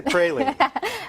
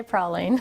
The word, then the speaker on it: praline: and it turns out the dictionary actually has both pre p r y and PR p r a w so you can pronounce it either way well that's good I